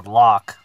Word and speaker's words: Locke: at that name and I saw Locke, you know, pronouncing the E. We all know it's just a Locke, or at least we do now.